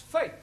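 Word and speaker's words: fête: For example, F-E-T-E is also pronounced fate.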